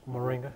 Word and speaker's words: Moringa: the longevity and the quality of life this Moringa plant that's the correct pronunciation Moringa yes sir it's also known uh in a